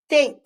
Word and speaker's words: date: That silent E makes the A say its name. Date.